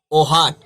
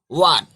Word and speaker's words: what: हैं, इसको क्या बोलेंगे, इसको ओहाट, ओहाट नहीं पढ़ेंगे, ओहाट नहीं पढ़ेंगे, इसको क्या बोलेंगे, इसको बोलेंगे एच को हम साइलेंट रखेंगे। और वाट वाट, WHAT, क्या बोलेंगे, वाट।